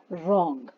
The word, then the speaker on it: wrong: अब बच्चों, रॉन्ग word देख रहे हैं आप, इसमें W जो है वो साइलेंट है ना। तो इसको हमने कैसे पढ़ा? रॉन्ग, R से पढ़ा, ठीक है।